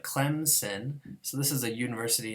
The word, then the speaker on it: Clemson: it easier to pronounce, people actually insert a sound, Clemson. We should call this an insertion rule.